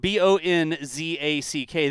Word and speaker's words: Bohnsack: I've got Bohnsack, Bohnzack. And phonetically spelled Bohnzack.